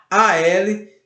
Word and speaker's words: álcool: hora de separar, mas a separação de sílaba da palavra álcool é AL, acento no A, ALCO-OL. Perceberam? O O fica separado na palavra álcool.